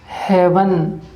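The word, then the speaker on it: haven't: ऐसे ही हैव के साथ जब नोट लगाते हैं तो आप इसे बोलेंगे हेवन, HAVAN।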